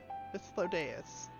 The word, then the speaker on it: Hythlodaeus: I am Hythlodaeus, Chief of the Bureau of the Architect. Wow. Hythlodaeus. That's a correct pronunciation.